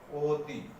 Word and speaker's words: অতি: এখানে অটা ও এর মতো হয়ে যাচ্ছে, অতি।